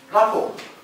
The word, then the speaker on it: rapport: Rapport. But don't make this mistake of pronouncing T at the end. That's silent T.